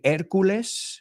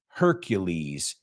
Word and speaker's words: Hercules: that's interesting because there we can learn how to pronounce Hercules you say erculus we say Hercules in English right so um now